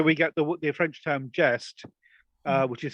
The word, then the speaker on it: geste: And of course, from the word jester, we get the French term geste, which is spelled Geste, and geste it means deed.